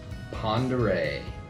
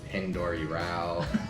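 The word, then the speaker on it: Pend Oreille: probably I would say this is probably the most commonly mispronounced out of all of the names out here you get a lot of pendor pendor yeah all over the place pendor pendal um P which not to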